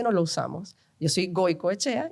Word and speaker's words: Goicoechea: Yo soy Goico Echea y le pusimos Goico al a la hamburguesería. Goico con K. Mi apellido se escribe con C.